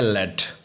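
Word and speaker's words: lead: यहाँ पे मेटल के तौर पर पढ़ते हैं लेड। लेकिन ऐसे ही हम एक वर्ड यूज़ करते हैं LED सेम स्पेलिंग के साथ।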